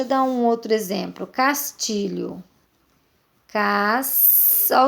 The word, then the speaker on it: Castilho: Castilho.